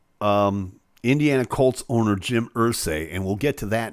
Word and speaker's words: Irsay: four and i have 4.5 million dollars jim mercy paid jim irsay i should get his name right if he's